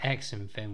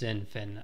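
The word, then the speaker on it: XinFin: on comments in the previous video calling it x and finn which is absolutely shocking for me i do apologize uh is pronounced zinfan apparently so let's get that correct so that's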